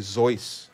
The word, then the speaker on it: Seuss: One of the examples, I want to say Dr. Seuss is actually Zeus. I think it's supposed to be like Zeus. We all say it wrong.